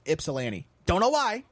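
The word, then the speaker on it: Ypsilanti: it's Yip it starts with why but it's pronounced y ipolani don't know why it's just how it is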